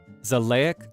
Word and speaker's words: Xileak: Uh so uh his name and this is going to be a fun pronunciation for you to to hear for the first time is Zleek von Deonia III. Yeah, that's right. Zleek Nashilik.